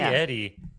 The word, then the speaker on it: Eddie: Hers isn't pronounced Edie. Hers is pronounced Eddie.